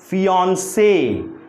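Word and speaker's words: fiancé: सो the stress should be ऑन। हमारा जो जोर होगा, जो स्ट्रेस होगा वो ऑन पर होगा, और इसको पढ़ेंगे कैसे? फियांसे।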